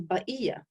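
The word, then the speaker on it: بقية: Levant, came from Syria, they didn't pronounce the qaf. They pronounced it as a glottal stop. So it was ba'iyya.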